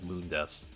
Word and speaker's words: Mundus: They mispronounced Mundus' name. They just did it how it's spelled even though in the games it's clearly said Mundus and not Mundus, which sounds so it just sounds lame to just be called Mundus instead of like Mundis.